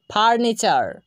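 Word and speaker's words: furniture: কে দেখতে পাবো তখন আমরা টি ইউ এর উচ্চারণটা চ এর মতো করব। চলুন আমরা আরও কিছু উদাহরণ ফলো করি। Lecture, lecture. ফার্নিচার, ফার্নিচার।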